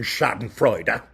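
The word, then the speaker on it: Schadenfreude: And yes, I do pronounce the fourth syllable in Shoden Fredera that I see so many of my wild fellow culture vultures and circling of their prey.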